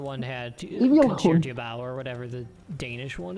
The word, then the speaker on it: Concertgebouw: There's just a G in the middle of that word. It doesn't seem like there should be. Well, it's Dutch for you. Concertgebouw.